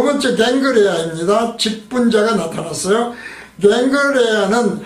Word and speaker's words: 겐그레아: 갱그레아는 헬라어 발음이죠. 캥그레아이죠.